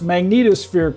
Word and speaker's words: magnetosphere: and the interstellar medium how you remember to pronounce magnetosphere correctly is think of Magneto and then put a sphere on the end of it good there you go